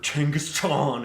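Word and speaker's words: Genghis Khan: Not mustache man, not Genghaskhan or Tangaskan as people who think they're smart pronounce it nowadays.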